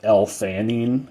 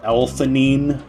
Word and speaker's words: L-theanine: Some of these, energy drinks today, they have caffeine, but they also have L-theanine, which is like an amino acid. I've also heard it pronounced L-theanine, but that sounds stupid.